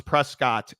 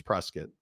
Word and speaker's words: Prescott: he probably even knows Arizona folks pronounce Prescott Arizona it's Prescot yeah correct it is Prescot correct post dispatch right